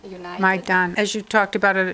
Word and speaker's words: Maidan: And as I understand it, and I'm probably not pronouncing it right, could you pronounce it again? It's Maidan United. Maidan.